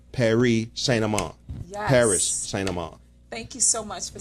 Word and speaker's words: St. Amand: Paris St. Amand.